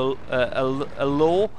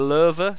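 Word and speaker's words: Löwe: And there's a law or a lurver, depending on your ethnic origin, whether you value correct pronunciation or not.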